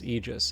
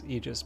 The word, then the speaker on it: Aegis: So far as I can tell, the correct pronunciation is Eegis. And I know I'm not um I'm not the best one for pronunciation on this stuff, but I'm pretty sure uh I'm pretty sure it's Eegis, but still it's fun pun.